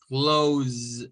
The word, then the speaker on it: close: Remember, close is an S, but is the stress sound or is the voicing sound for the S, like a Z.